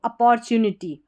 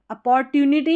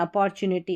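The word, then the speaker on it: opportunity: ऑब्सकल बट एन अपॉर यहां पर ओ है ना इसको अ करके पढ़ना तो सही उच्चारण आएगा पढ़ने में अपॉर फिर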